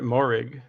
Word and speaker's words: Moehrig: How you pronounce it? You said it, Moehrig.